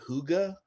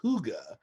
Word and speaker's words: hygge: something a concept that comes from denmark called hygge tell me more okay so i just heard